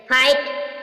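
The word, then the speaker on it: fight: फाइट, फाइट means युद्ध, GH silent.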